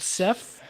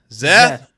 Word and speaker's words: Seth: from for some reason old men cannot enunciate the S and it becomes a z it becomes a z zeth remember my geometry teacher